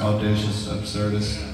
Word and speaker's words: Audacious Absurdist: It's pronounced Audacious, Absurdist.